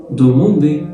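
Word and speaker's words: demander: الدي مع الأو تتنطق دوموندي.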